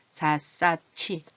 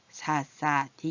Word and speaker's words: 샅샅이: 사사치 이 소리가 더 발음하기가 쉬운 거예요. 그래서 이게 사사티 이렇게 발음하지 않고 사사치 같이 이럴 때도 마찬가지입니다.